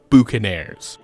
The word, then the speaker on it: boucanier: The actual name is really more like calling these meat smokers boucan sellers or boucaniers, though the French pronunciation at the time would be much closer to boucanier, and as the name